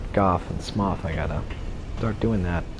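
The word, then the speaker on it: Smough: alright usually I just nail a born and SMO SMO I got to stop saying SMO and go I got a now that I know what's actually pronounced golf and smoth I gotta start doing that right I want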